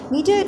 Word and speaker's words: media: the following words media media actually it is it is used as noun so we have to put stress on the first syllable that is uh like m e right then the next one